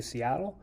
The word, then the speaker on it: Sealth: But Chief Sealth was a chief of the Duwamish who lived in modern-day Seattle, and his name is often pronounced Seattle, and the city of Seattle is named after him.